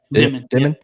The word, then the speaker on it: Demin: How do you pronounce his last name? Is it Demine? Demine.